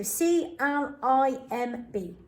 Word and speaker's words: climb: i the m and the silent b so c l i m b climb wow done next one crumb i ate